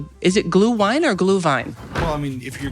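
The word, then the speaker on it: Glühwein: Glue vine. So if you're going to go full Germanic pronunciation, the W's a V, or you could just call it glue wine, which sounds weird.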